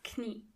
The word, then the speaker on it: Knie: And in German, you have to pronounce the K. Das Knie.